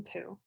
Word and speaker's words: Pu: Chapter 1, Meet Geraldine Pu. Her last name rhymes with blue or chew.